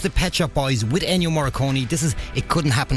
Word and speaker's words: Ennio Morricone: Ennio Morricone, I can never pronounce his name right. I think it's Ennio Morricone, isn't it? It is Ennio Morricone that passed away during the week.